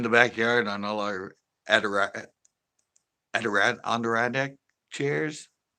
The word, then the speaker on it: Adirondack: They'd be sleeping in the backyard on all our Adirondack chairs. Not pronouncing that right.